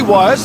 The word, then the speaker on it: Wyers: I'm going to say Wyers. I'll tell you why, because his mother told me that's how you pronounce it.